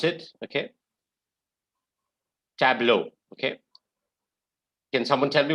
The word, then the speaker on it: tableau: word guys anyone w yeah that is correct tableau is how you pronounce it okay tableau okay can someone tell me what is the